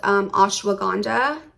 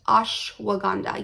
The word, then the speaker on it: ashwagandha: one pill i also took what is called ashwagandha i believe that's how you pronounce it ashwagandha yes ashwagandha root powder 800 milligrams so i bought this